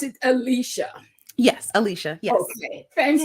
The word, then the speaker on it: Alecia: So you pronounce it Alecia.